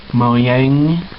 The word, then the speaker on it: Mojang: yeah, I'm not sponsored by Hot Wheels or Mojang, as it's supposed to be pronounced, in any way, shape, or form, but this is the Minecart Hot Wheel car.